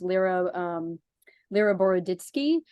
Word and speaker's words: Lera Boroditsky: I think her name is pronounced Lera Boroditsky, who is, a neuroscientist who her specific area